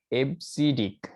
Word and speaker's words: EBCDIC: one is ebcdic right extended bcd interchange code pronounce abcdec so 8 bit code